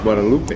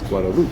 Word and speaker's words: Guadeloupe: Gualoop. Yeah, we did find out um that it's not Guadalupe, it's Guadaloop really um is how they pronounce it.